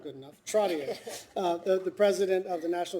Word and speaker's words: Trottier: Trottier, the president of the National Association of Food Distribution Programs on Indian Reservations, Fort Trotton, North Dakota.